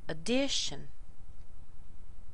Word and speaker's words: addition: to the second one addition addition first of all there's no strength in this first syllable here it's all in the second syllable this actually is another